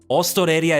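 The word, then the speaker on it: オーストラリア: Ostoreria is how you say Australia, but would it be Ostoreria Jin?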